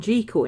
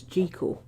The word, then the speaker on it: Jekyll: now I know why people keep saying G chord instead of Jekyll because Scots pronounce it as jico yes yes yes yes